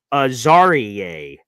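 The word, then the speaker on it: Azareye'h: And it's Aarier Thomas is how it's supposed to be pronounced.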